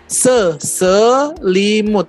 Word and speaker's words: Selimut: Selimut. Three syllables.